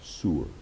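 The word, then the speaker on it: sor: If you were to spell it in English in a transliteration, it would be s o r. Sewer. A lot of you are thinking like sewer like you know what's under the ground.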